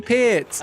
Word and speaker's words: Peart: It's Peart.